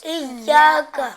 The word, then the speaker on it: إياك: ایاک میں جو چھوٹا کاف ہے اس کو بعض بچے نا قاف پڑھتے ہیں. کیا پڑھتے ہیں؟ قاف ہاں جو بڑا کاف موٹا کاف ہوتا ہے وہ پڑھ رہے ہوتے ہیں. کیسے پڑھتے ہیں؟ ایاکا نہیں، تلفظ کیا ہے؟ ایاکا. کیا ہے تلفظ؟ إياك ہاں ایاکا نعبد و ایاکا نستعین.